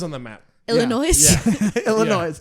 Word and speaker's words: Illinois: Illinois. Oh, it doesn't have an S at the end. Illinois. You don't pronounce the S, it's silent.